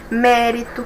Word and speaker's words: mérito: Mesma forma, mérito, a de trás para frente é a terceira, ou seja, a antepenúltima é a mais forte.